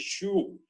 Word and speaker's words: Sioux: E eles estão no território dos índios Sioux, pronuncia-se Sioux, do norte dos Estados Unidos, mas escreve Sioux.